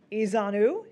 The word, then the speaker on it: Ezeonu: Joining us right now is Council Member Ezanu.